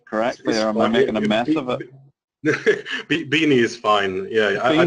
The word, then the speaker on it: Beaini: I think it's worth saying that is it Beaini or is it am I pronouncing this correctly, or am I making a mess of it? Beaini is fine.